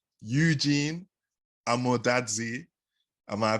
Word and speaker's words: Amo-Dadzie: mine so i have to say eugene i'm more dadsy am i pronouncing that right yeah that was good that